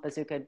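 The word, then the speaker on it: Bezucha: director wonderful director yeah it's pronounced bazooka but it's not spelled bazooka honey i mean i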